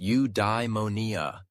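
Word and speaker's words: eudaimonia: He called it udeimmonia, pronounced udimonia.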